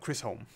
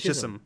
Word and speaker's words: Chisholm: Not Chris Holm. Who? Here. It's over here. His name Chisholm. But he's pronounced as Chisholm. Chisholm? Yeah, because I said Chris Holm. There's no R.